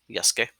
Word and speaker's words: Yasuke: So the U is silent in his name, Yasuke.